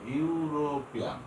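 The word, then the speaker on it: European: এ ইউরোপিয়ান, এখানে শুরুতে দুইটা অক্ষর আছে কি ই, ইউ, কিন্তু প্রথমে ভাওয়াল ই, কিন্তু উচ্চারণ হয়েছে ইউ এর মতো, ইউরোপিয়ান।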